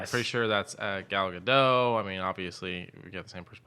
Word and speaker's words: Gadot: I've always just Gal seen it Gadot? written. Yeah, so Gal Gadot is what I say. Yes. It's got a T in it, but The T is silent.